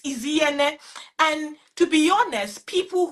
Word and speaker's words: Inyene: I tell them, I said the N is Inyene. The N is silence, is Inyene. So just take away the N from it and pronounce like you're pronouncing Iyene.